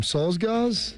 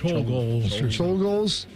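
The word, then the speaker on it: Czolgosz: Solzgaz? Sure. Solzgaz? You know what I'm talking about, Shark? The man who shot William McKinley? I think it's actually a CH, a Cholgals.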